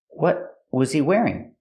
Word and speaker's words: what was he wearing: is a sto tea what was he wearing you can stop the air with your tongue up what was he wearing and sometimes people stop